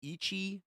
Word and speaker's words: Ichi: And the options we have are Donadan, 20th Century of Boys, and I believe it's pronounced Ichi the Witch. Uh, Ichi. I feel like I'm saying Itchy, but Itchy the Witch.